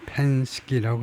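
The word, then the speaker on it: Penske: 아, 펜스키라고 하네요. 그냥 펜스키.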